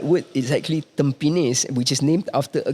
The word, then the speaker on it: Tampines: place, then like Tampines, and then it gets mispronounced as Tampines. If I told you that Tampines is the name of a grass that grows near the beaches, all this is lost when you mispronounce it as Tampines.